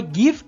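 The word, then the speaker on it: give: লক্ষ্য করে দেখবেন যে গিভ বা লিভ বানানের শেষে একটা ই আছে। অথচ উচ্চারণে এই ই এর কোন কাজ নেই।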